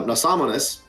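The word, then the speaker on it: Nasamones: experiments with um and i got to pronounce it the right way and not the way we said it for the last two and a half to three years uh nasamunis um which is the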